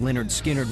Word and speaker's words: Lynyrd Skynyrd: released its first album in november 1973 although pronounced leonard skynyrd was a hit the group wasn't taken seriously